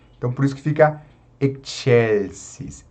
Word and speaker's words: excelsis: Então, a gente une o som do X e o som do C, né? Então, por isso que fica excelsis, excelsis.